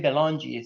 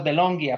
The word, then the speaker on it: Belongia: By the way, I didn't know how to say your last name, so you say Belongi. So that's good to know. I thought it was Belongia for some reason.